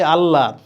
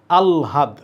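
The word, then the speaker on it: আহ্লাদ: উচ্চারণ কি হবে আলহাদ আমরা বলি আল্লাদ কেউ বলে আহলাদ কিন্তু এটার কারেক্ট উচ্চারণ আলহাদ এটা কি লেখা এখানে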